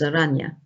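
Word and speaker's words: Oranje: william frederick of aragne spelt as orange but pronounced by the duchess aranya he was the son of the last head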